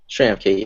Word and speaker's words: Schramke: is at PurelyJustin, and Alex is at Alex Schramke? Schramke, yeah. Would you like me to spell that for you?